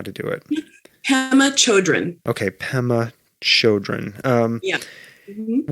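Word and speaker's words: Pema Chödrön: It's called When Things Fall Apart, Heart Advice for Difficult Times by, could you pronounce this person's name? I don't know how to do it. Pema Chodron.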